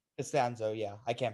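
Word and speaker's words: Castonzo: It's Anthony Anthony Catazano. Costanzo. Costanzo, yeah. I can't pronounce his last name correct.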